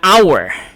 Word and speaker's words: hour: you another example of this is an honor okay an hour which is also in silent letter H that's why we say an honest person and not a honest person all right this question